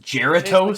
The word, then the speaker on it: Jarritos: Sí, jarritos. I love those. It's pronounced Geratos.